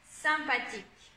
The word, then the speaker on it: sympathique: Tout à l'heure, on avait vu IM, mais c'est possible aussi avec le Y. Donc, 1, c'est donc celui-là. 1, sympathique. Et ici, on a aussi